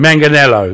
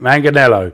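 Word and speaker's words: Manganiello: It's like Manganello or something. Manganello, that's it. Manganello.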